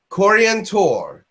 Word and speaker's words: Coriantor: Coriantor. That would be the human pronunciation in English.